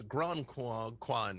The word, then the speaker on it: Gronquan: She's like, no, it's not Granquin. Nothing rhymes with that. No, it's Gronquan. Gronquan was the version of it that I liked.